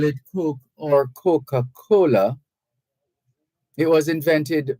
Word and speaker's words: Koch: Frederick Koch, that's spelled Koch, but pronounced Coke, Mr. Frederick Koch of Guilford, Vermont, got tired of people pronouncing his last name Koch, Kotch, and changed his last name to Coke is it.